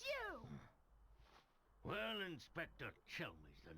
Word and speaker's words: Chelmey: Calmy's back, huh? This is the first time we're actually meeting the real one, then. Huh? Hey, it's you! Well, Inspector Chelmey's the name.